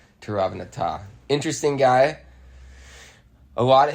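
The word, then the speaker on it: Tiravanija: It looks like Tiravanaja, but I think they pronounce it Tiravanata.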